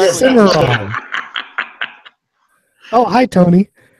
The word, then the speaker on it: Cimarron: The cinnamon? A what? Cinnamon revolver? I don't know how to pronounce that crap. Cinnamon. Yeah, cinnamon. That's it. No, that's a Cimarron.